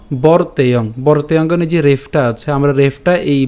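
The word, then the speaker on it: বর্তেয়ং: বরতেযে রেফটা আছে আমরা রেফটা এই ব এর সাথে উচ্চারণ করছি।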